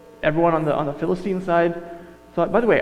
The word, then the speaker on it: Philistine: on the on the philistine side thought by the way i think the proper pronunciation is philistine like you put the em emphasis on the different salable philistines but i can't do